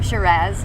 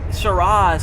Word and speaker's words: Shiraz: love factoids okay factoids i always have said shiraz but truly you do pronounce it and all that jazz so that's why it went with our theme shiraz and jazz instead of shiraz and jaws i would i'm so